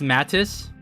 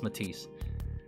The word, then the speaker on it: MATIS: Did anyone think it was pronounced Mattis? Cuz I I for the longest time I pronounced it mattis until it was made clear that was Matis.